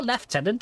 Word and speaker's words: Lieutenant: and private and Etc liutenant or left tenant if you're of the English variety why do the English pronounce it left tenant instead of Lieutenant is it just to